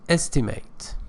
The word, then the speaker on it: estimate: Number six, estimate. Estimate is the verb. Estimate is a noun. Pronunciation changes.